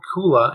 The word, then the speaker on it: Koohlah: yeah so um it's it's called Kola and it's spelled with the k o o h l a uh looking at it